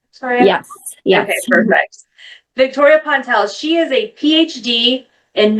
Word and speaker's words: Pontell: So, she's a staple now in our podcast, and we have Victoria Pontell. Did I Did I pronounce that correct, Victoria? Yes. Yeah. Okay, perfect. Victoria Pontell, she is a PhD in nursing education and